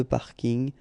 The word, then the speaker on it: parking: Yeah, sorry about that, but well, French people tend to use this parking as well. So I know it's coming from English, but still you should pronounce it the French way.